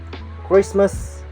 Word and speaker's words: Christmas: Island debris and Isle letter of T it's kind of a little bit tricky about it and select this example Christmas listen and Castle Christmas listen and Castle